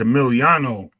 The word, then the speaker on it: Emiliano: gotta say his name right. It's Emiliano. I was like, Yeah, yo, I'm typing Emilio.